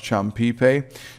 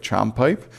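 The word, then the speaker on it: chompipe: word for Turkey um it's pronounced champipe uh but it looks like chomp pipe. So, um they used uh the word the word the English words that they knew, chomp and pipe.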